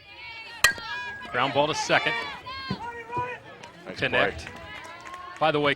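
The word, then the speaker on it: Knecht: ball to second a connect by the way connects name is spelled KN e CH T but pronounced connect and here's a replay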